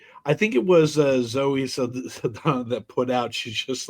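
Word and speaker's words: Saldaña: Well, how do you say her name? Danya. Saldana. Saldana. Yeah, that's how you're supposed to say it.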